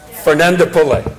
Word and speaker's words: Fernandopulle: I'm going to say how to pronounce his name, which is Rushika. Fernandopulle.